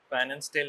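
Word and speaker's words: Pfannenstiel: Incision কে কি বলে ফেন্সিস্টেল incision P silent ফান্সল incision ঠিক আছে?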